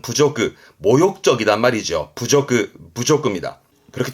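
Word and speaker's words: 侮辱: 발음은 부조그, 모욕적이단 말이죠. 부조그입니다. 그렇게 또 이해해 두세요. 모욕의 부조그.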